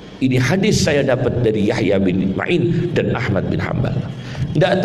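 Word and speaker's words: Yahya ibn Ma'in: dan Yahya Bin maain jangan baca Yahya Bin Muin Yahya Bin Main seperti asmui itu jangan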